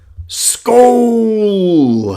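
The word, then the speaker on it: skål: Skull! A Viking. Okay. Rhymes with goal. It's a Viking Danish equivalent of cheers.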